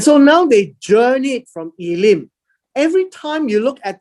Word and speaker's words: Elim: This word is Elim. So it's pronounced as E.